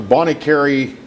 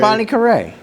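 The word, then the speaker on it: Bonnet Carré: bonnie carey um the the bong or how you pronounce it bond no it's bonnie carray yeah not the spillway i'm talking about the oh the bon kerei yeah bon carre whatever you want to call it the enterprise center yeah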